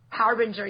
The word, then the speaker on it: Harbinger: It's Harbinger, yeah, I'm always going to say it wrong.